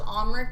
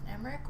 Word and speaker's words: Emmerich: Emmerich, yeah. In the game they say Sir Emmerich. I thought it was Omric, but apparently in the game they say Sir Emmerich.